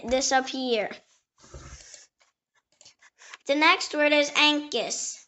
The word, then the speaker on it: ankus: The next word is Ankus. It can also be pronounced Ankush or Ankusha.